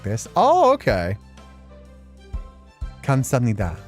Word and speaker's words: 감사합니다: Kamsahamnida. Kamsahamnida.